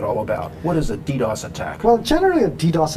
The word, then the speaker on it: DDoS: I'm curious about this whole technique called DDoS. Okay. Have I pronounced that correctly? Yes. DDoS.